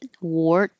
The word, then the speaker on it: wart: a Z word and this one looks like a r but sounds like o r w no T just hold it wart and if it's plural